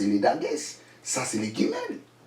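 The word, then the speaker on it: גימל: Ça, c'est les guimels. Il n'a pas les dagues, donc ça se prononce J.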